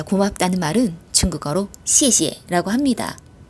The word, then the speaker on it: 谢谢: 앞에 거는 된소리가 나서 시에라고 발음이 되고요.